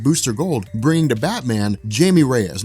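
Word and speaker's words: Jaime Reyes: to Batman Jamie Reyes now I call him Jamie Reyes some some people like Joe call him Haim Reyes I think it really just kind of depends I'm used to pronouncing it Jamie Reyes I mean that's that's I don't know why it would be pronounced a different way but Jamie Reyes is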